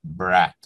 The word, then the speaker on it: brat: Y vamos a hablar de la película Brat. En ruso se pronuncia así, hermano, brat. Vamos a hablar específicamente de Brat 1 de 1997, de su director Alexei Balaganov.